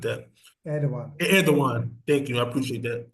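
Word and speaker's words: Erdoğan: even though er uh I forget how you pronounce his name the president of Turkey Ed Ed like that Ed Edan thank you I appreciate that Edan thank you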